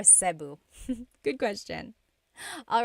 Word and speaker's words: Cebu: So, technically in the Tagalog alphabet, the letter E can be pronounced E or E like the letter I. So, I say Cu. Cu. And I know some people say su, but usually it's either Cu or Sebu.